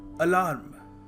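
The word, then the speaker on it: alarm: Alright, so extra जो ए जो आप लगा लेते हैं, इट इज रॉन्ग। सो इसको सही तरीका है प्रोनाउंस करने का, अलार्म।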